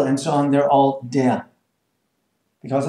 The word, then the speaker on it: der: It's only E-A. No R pronounced, right?